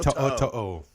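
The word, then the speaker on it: To'oTo'o: Henry To'o. To'o.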